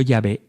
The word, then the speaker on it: Yahvé: Pues sí, está bien, porque todos los hebraístas, los expertos en el idioma hebreo, confluyen en que la manera original y primitiva de pronunciar el nombre de Dios debía haber sido Yahvé y no Jehová.